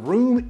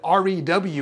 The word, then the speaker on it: REW: this free software called room equalization wizard some people call it rew or just pronounce it roo it can be a